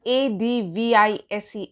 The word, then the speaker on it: advise: is a noun whereas advise rhymes with eyes that is similar to vitalize and as a verb